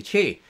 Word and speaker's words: qi: They pronounce it qi as qi, but it's not pronounced qi, it's actually qi in Chinese.